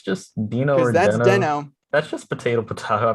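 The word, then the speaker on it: Deno: i guess it's because it's supposed to be after the dinosaur in flintstones yeah um and so it's dino but i think the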